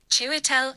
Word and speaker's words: Chiwetel: Chiwetel Ejiofor. Chiwetel Ejiofor. I think he was really good. Chiwetel Chiwetel Ejiofor. Chew, like choo-choo train. Chiwetel Ejiofor. Chiwetel Ejiofor.